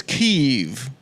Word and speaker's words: Kyiv: I just wanted you And to of feel- course, the correct pronunciation is Kyiv.